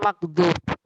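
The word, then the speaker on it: مغضوب: Bedanya dengan maghdub. Kalau maghdub adalah orang yang mendapat murka. Kalau matlum ya, matlum orang yang mendapat kendoliman. Ya, maghdub sama matlum. Makanya bacanya harus beda ya.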